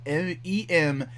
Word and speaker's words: Empyre: It's spelled Empyre, as in like pyre, like a fire pyre, because they're gonna burn Earth to the ground.